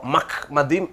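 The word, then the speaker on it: מחמדים: சரி இப்ப எழுத்துக்கு வருவோமே இந்த எழுத்தை தான் அவர்கள் வந்து முகமது என்று சொல்லுகிறார்கள் இது ஹஸ்ரத் முகமது அவர்களுடைய பெயர் அல்ல எப்படி என்று சொன்னால் இது மெம் மெம்முக்கு கீழ பட்டாக இருக்கிறது அடுத்தது என்ற உச்சரிப்பு தான் வரணும் இதுக்கு கீழ இது அரை மாத்திரை உண்டு அடுத்தது திருப்பி மெம் பட்டா இருக்கிறது அடுத்தது இது டாலத் பாருங்க அதுக்கப்புறம் இந்த ஈ இம் அப்போ மஹ்மதிம் என்றுதான் சொல்ல வேண்டும் அப்போ இவங்க என்ன சொல்றாங்க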